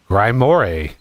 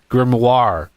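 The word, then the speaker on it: grimoire: Um, it's so funny seeing people trying to pronounce Grimmoir. Grimore grimior. It's just grimoir.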